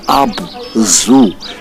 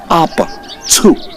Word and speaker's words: Abzu: And the truth, the right pronunciation is not Abzu as in animal zoo. No, it's Abzu. They pronounced the ZU as Tsu.